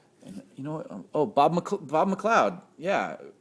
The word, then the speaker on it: McLeod: you know Bob Bob McLeod yeah I always like to say mcli oh eight eleven twelve year old kid trying to you know know how to say his name I was you know